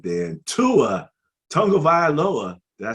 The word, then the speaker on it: Tua Tagovailoa: And Tua Tagovailoa, did I say it right?